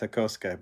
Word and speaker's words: Hakosuka: on my video about the Hakoska Skyline, because it's spelled H-A-K-O-S-U-K-A. And he said, hey, it's the Hakosuka. It's like, no, it's not. It's Hakoska, because I've been corrected 1,000 times by my